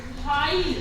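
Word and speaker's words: high: silent रहता है जैसे हाई एच आई जी एच इसको हम बोलेंगे हाई ठीक है हाई तो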